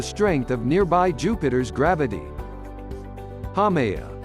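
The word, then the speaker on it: Haumea: because of the strength of nearby Jupiter's gravity hamaya hamea pronounced is the only official dwarf planet not shaped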